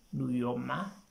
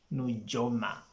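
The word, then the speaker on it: Nujoma: get this one right now we also have nuyoma it's not jonah of course there's a jay there but there's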